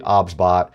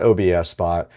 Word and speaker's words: OBSBOT: The pronunciation of the product is actually Obs. It is not OBSBot.